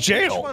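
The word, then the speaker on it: gaol: that more often it's apparently that's pronounced jail yeah hypogen GW just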